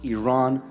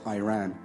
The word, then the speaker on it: Iran: the Iranian people but you're pronouncing a country's name wrong our country is named Iran not Iran please once and for all let's get this